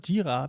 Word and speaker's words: Jira: So, I actually figured out it's not Jira, it's called Jira because it has some Asian roots as far as I understood.